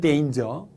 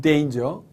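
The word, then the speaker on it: danger: 이렇게 말하는 경우도 있습니다 물론 이단 의 정확한 발음은 데인즈 데인저 은 데인저 자 또 어떤 분들은 요 설탕이나 뭐 이렇게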